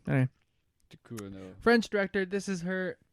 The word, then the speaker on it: Ducournau: Julia Ducournau. Can you pronounce that? Ducournau. Anyway. Ducournau.